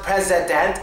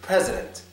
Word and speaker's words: president: three vowels in there it's actually not pronounced presedent it's president president president the only letter the only vowel in that sound that actually gets pronounced properly is the first e that's it the first e the next two vowels are swad president president that's how